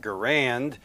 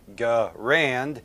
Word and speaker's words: Garand: You have the first pronunciation, Garand, which has the R in the second syllable, rhyming with the word and, Garand. And then you have Garand, where the R kind